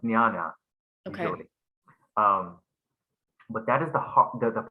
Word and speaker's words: jnana: I mean, English speakers who see that, but it's actually pronounced jnana usually.